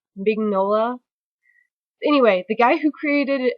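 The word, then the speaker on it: Mignola: his last name either I think his last name is pronounced mola anyway the guy who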